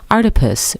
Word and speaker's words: Artipoeus: at our deepest com our deepest pronounced like octopus because art is everywhere that's all for articles